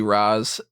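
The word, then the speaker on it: Ra's: I always feel like it But should be Raz if the person's American, because Americans will never really bother to pronounce things Raish, 100% right.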